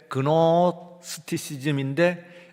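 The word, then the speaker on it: Gnosticism: 그래서 이 사람이 노스티시즘, 근데 노스 할 때 그노스티시즘인데 앞에 있는 쥐가 묵음이에요.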